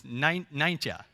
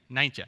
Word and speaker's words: Nijntje: I'm gonna pronounce it wrong. We call it Miffy in the rest of the world. It's Nijntje. Nijntje, yeah.